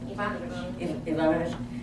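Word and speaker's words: Evanovich: How do you pronounce that Ivanovic's name? Is that right? Ivanovich.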